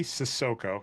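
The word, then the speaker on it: Cissoko: So CD Sissoko, and you get that right, the pronunciation at least.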